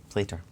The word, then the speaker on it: Plater: Plater, not Platter. It's not Platter.